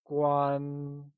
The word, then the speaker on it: Guān: That is guan. Guan is pronounced using a high level tone. Let's try and say guan. It is said with a high level tone, like guan.